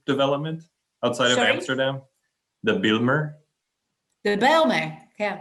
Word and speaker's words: Bijlmer: The Bijlmer? The Bijlmer, yeah. Bijlmer, yes.